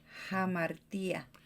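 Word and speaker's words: hamartia: Aquí la pronunciación es en inglés, la H, así que en español hubiera sido con una J. Imagínate que la H es una J. Hamartía.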